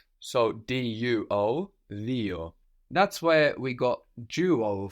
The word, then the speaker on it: δύο: But this is pronounced dio in Greek. Δύο.